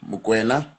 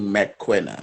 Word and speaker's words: Mokwena: So back in the years, my American friends, they couldn't pronounce my surname. They couldn't say Mokwena, so they kept on saying McQuena, McQuena. Like the, it's properly said, but the surname it's McQuena.